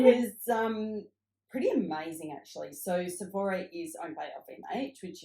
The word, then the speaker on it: Sephora: So we pronounce it Sephora. Okay, But sorry. I think in the Sephora. Yeah, Yeah, no, in okay. the UK they used to say Sephora.